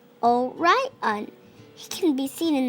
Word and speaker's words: Orion: the hundreds name is Orion you say it like this oh right on he can be seen